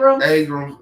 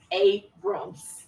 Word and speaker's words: Abrams: Ingram U Stacy AB Aram aka the uh say it right Stacy abam Abrams Abrams yes Abrams okay Abrams I'm saying